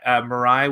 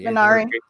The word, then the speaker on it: Minari: Yeah, Mirai with, I think it's how you say it, but with Stephen Yeun, A24 film that Minari.